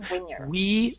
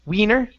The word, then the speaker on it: winner: Right here, give me a short I instead of Winner. Wiener. It's winner. Winner.